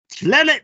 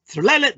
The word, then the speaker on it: tekhelet: You'd think that would spell something like Tiklele, but you have to pronounce it very quickly. You almost slur it and it comes out Tlelet blue.